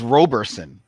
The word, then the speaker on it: Roberson: Chris, and I believe that's Roberson. Is it Roberson? Okay, that's the way I would have always pronounced that.